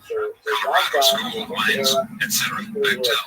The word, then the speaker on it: Bechtel: Bechtel, pronounced Bechtel, the San Francisco-based organization.